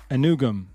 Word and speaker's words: Anugwam: Pronunciation guide, Arkel Anugam.